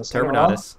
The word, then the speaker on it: Terminatus: Terminatus. Terminatus. Think of Exterminatus, but Terminator.